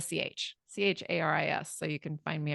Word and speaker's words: Charis: It's spelled and pronounced like the city Paris to help everyone understand, but with a Charis.